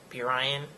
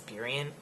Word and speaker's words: Burien: I know I'm like always mispronouncing things like Burien, and it's Burien.